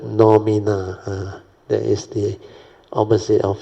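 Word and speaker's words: noumena: I always pronounce it pneumono. But actually he said phenomena, then the word nomina.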